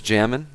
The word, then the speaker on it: xJamin: As always, my name's Jamin. That's spelled xJamin, and of course the X is always silent.